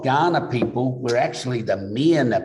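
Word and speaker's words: Kaurna: when you look at ghana oddly enough we're spelt with a k but it's pronounced with the g um and a lot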